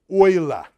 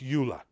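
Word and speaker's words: Euler: in history of science pronounced oil not ula never say ula and uh sort of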